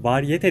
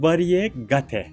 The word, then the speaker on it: variegate: Bu kelimenin doğrusu variegate. Türkçe olarak telaffuz ediyorum. Variyete değil.